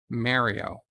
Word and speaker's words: Mario: track says mario mario i understand that nintendo mispronounces his name but the fact that they mispronounce his name does not change the fact that the name is correctly pronounced mario tiki of doom welcome